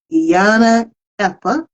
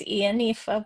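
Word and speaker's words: Ìyánífá: She is a psychotherapist, she's a poet, and she is a devoted Iana Epa. I'm perhaps You mispronouncing did it. good. It's Ianifa, but it's very hard, that word.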